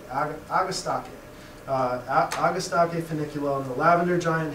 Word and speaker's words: Agastache: of different ways, but Latin should always be pronounced with a hard C when you see a CH in the Latin name, and E is always pronounced sort of like an A, Agastache.